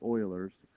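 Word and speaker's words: Euler's: it looks like I know ERS but it's pronounced Oilers and logistic differential equations are new topics and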